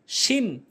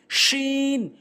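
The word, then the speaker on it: شين: শিন ভুল উচ্চারণ, শিন ভুল উচ্চারণ, শিন সঠিক উচ্চারণ। জিহ্বার মাঝখানে উপরে তালুর সঙ্গে জিমের মতো করে শিন শিন শিন।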